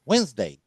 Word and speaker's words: Wednesday: For Wednesday, attention to the pronunciation. It's not Wednesday. Wednesday. It's Wednesday.